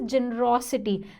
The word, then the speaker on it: generosity: The pronunciation is generosity. There is a stress on this word, generosity. It's derived from the word generous, which means having a giving nature.